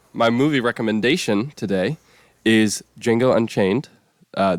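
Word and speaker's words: Django: kind of like it's D Jango but the D is silent and he just like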